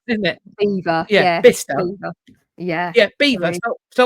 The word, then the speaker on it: Belvoir: Beaver. Yeah, Bicester. Beaver. Yeah. Yeah, Beaver. Spelled Belvoir, but Beaver.